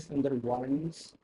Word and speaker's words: Sundarbans: Otherwise, if you're taking this spelling at least in English, it will be Sundarbans.